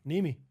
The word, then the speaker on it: Nimi: Nimi. That's how you pronounce it.